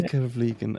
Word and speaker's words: Vliegen: or vlean or as you did perfect vlean okay let just say that's how I pronounce it in English I don't expect anybody